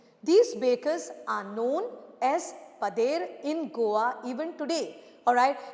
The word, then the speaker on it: padeiro: These bakers are known as padeiro in Goa even today. Alright, in Portuguese the pronunciation is padeiro, alright.